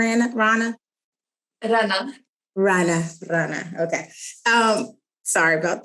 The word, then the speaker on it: Rana: am I saying it right r an Rana raana raana okay um sorry about that if from